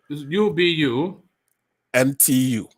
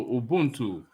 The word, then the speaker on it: ubuntu: t u i'd like to know how you pronounce that u b u n t u ubuntu this is the way i would say